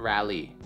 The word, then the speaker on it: Raleigh: Common popular pronunciation, Raleigh.